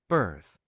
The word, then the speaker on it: birth: Birth birth. 마지막에 쓰로 우리 혈에 살짝 물었다 놔주는 거야.